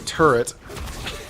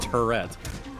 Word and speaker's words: turret: you going to do I'm surprised you pronounced it right usually you call always call it a Tourette that's my Canadian slipping